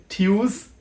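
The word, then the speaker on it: Tuesday: ওয়েনসডে আমরা বলে থাকি টুয়েসডে কিন্তু এটার সঠিক উচ্চারণ হচ্ছে টিউসডে ডেই আমরা বলে থাকি সাটার ডে কিন্তু এটারও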